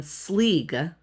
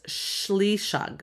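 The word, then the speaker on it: Sliseag: And then Sleeg is what's his name? Sawyer's. Now, in Celtic, it's Shleeshug. Shleeshug. Not Schlug, but Shug. Shleeshug. Shleeshug. That's how you say that particular pronunciation. That's completely different than Sleeg.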